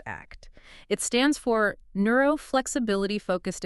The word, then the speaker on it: ACT: Remember, pronounced act.